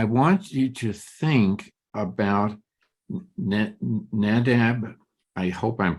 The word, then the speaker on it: Nadab: read on I want you to think about nadab I hope I'm pronouncing it correctly who no in Hebrew with nadav okay uh by the way are you are